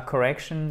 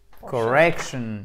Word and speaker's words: correction: Bon, Nicole, je te propose qu'on se retrouve demain pour la correction de la dictation. Correction, dictation, accent tonique avant le shun, toujours.